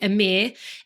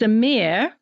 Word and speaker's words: Emir: the other great variety Amir everybody you're going to be very happy that m is spelled e m i r exactly said how it is spelled so I'm feeling much